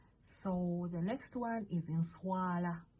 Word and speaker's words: nswala: So the next one is nswala. Nswala, NSWALA. Nswala. Okay. Nswa, that's 1 syllable.